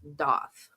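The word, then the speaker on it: daith: Um, it's it's d ai t h, but it's pronounced doth.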